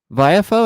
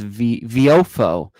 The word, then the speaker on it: Viofo: The Viafo, and I think I was pronouncing it wrong in the review. I think it's Viofo, I think is a correct way to pronounce it.